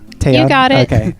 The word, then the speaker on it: Taeyeon: So up next, it's Daebak or Not, and this week we're taking a look at Taeyeon. Am I pronouncing that guys right? Taeyeon? You got it. Okay, Taeyeon.